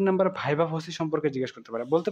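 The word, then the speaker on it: viva voce: এরপর ৩ number ভাইবা ভসি সম্পর্কে জিজ্ঞেস করতে পারে।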